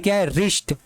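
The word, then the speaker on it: wrist: है अब यहां देखिए रिस्ट इसको क्या पड़ता है वरिष्ठ नहीं इसको पड़ते हैं रिस्ट क्या पढ़ते हैं रिस्ट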